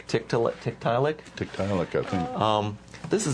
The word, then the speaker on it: Tiktaalik: I think it's pronounced Tiktaalik. Tiktaalik.